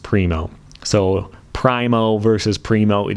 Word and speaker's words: Primo: So if you think it's called a Primo, I'm sorry, it is Primo. And since it's someone's name and it doesn't translate, I would stick to how his name is actually pronounced, if ever possible.